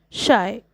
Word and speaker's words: Scheu: Sixth, the poet says that his name is pronounced as the word shy. Answer, when it comes to pronouncing my name, I am shy.